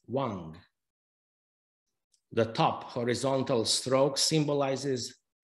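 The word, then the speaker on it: 王: This is expressed in the Chinese character for king that you see pictured and that is pronounced as Wang.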